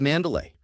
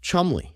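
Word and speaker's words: Cholmondeley: me the maress of Mandalay what a beautiful name that I'm being told right now that I pronounce incorrectly it is in fact pronounced chumble Counterpoint no it's not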